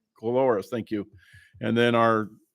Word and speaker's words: Coloris: Is that pronounced? Coloris, thank you.